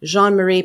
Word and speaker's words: Jeanne Marie: welcoming Jean Marie and I always say it wrong because you sound it sounds so pretty with your French accent so I'm going to do my fake French accent Jean Marie panel and I have